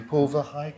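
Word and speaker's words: Paul Verhaeghe: And you talk about the work of a Belgian psychoanalyst who's unfamiliar to me, Paul Verheyghe, is that how you pronounce it?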